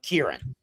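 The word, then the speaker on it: クリリン: So, so how the Japanese pronounce his name is is a um uh uh Kieran.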